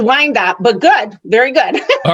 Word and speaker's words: Wyandotte: It's Wyandotte, but good. Very good. All right. If I had to miss something, the pronunciation of that city would be the one thing I'd want to miss.